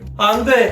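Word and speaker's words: 안돼: 숨 을 한 번 은 쉬어야 해 요 . " 안 - 드웨 " 라고 발음 할 때 는 숨 을 살짝 내쉬어야 합니다 .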